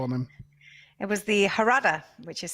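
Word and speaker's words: Jarada: It was a name that was almost sort of Spanish pronunciation.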